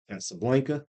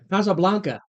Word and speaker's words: Casablanca: And then you get My Fair Lady, Did you take Spanish? My Fair Lady, We don't even have the pronunciation correct. Blanca, Casablanca. Say it then, Spanish boy. Casablanca. All right, so that movie, if you want to say it, They don't say A's. They say ah.